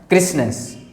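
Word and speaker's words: crispness: क्रिस्पनेस, क्रिस्पनेस, क्रिस्पनेस, क्रिस्पनेस, ये पी थोड़ा silent है भाई, याद रखोगे ना, क्रिस्पनेस, क्रिस्पनेस, क्रिस्पनेस, क्रिस्पनेस, क्रिस्पनेस।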